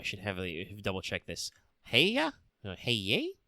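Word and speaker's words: Häyhä: Heya? Hey? It's there's an umlaut over the A's, so that should be like Heya? Long A's.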